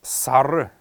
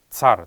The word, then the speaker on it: сар: Правильно говорить это слово сар, потому что в тудобичик оно писалось как сара, где последний неясный гласный должен давать особый звук, поэтому не сар, а именно сар будет верная форма произнесения этого слова.